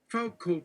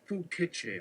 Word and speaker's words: Foucault: Foucault, pronounced Fouquetche, asks, is the narrator our point of view?